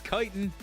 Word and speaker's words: chitin: I think it's chitin. I don't know. Now I need to look it up. Chitin, chitin. Pronunciation. Chitin. Yeah. Practice. Wow. Oh, I wanted you to say it. Say it for me. Chitin. It is. It's chitin. It's chitin, my friend.